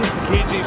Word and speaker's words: Tsukiji: Tsukiji Fish Market.